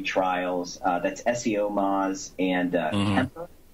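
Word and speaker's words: Cemper: That's SEO Moz and Kemper, which is spelled with a C, C-E-M-P-E-R.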